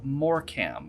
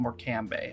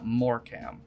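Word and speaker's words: Morecambe: or another we're gonna get it done your pronunciation made me giggle a bit it's more cam not more cambay although i don't blame you a website's having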